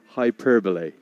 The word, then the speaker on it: hyperbole: it the big one and get out your hyperbole, Peter, to give it the correct pronunciation. Hyperbole. There's an hyperbole. Yeah. Pretty sure it's hyperbole.